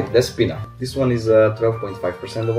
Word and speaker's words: Despina: And now they live to our wine, like this one, as you pronounce it correctly, Despina.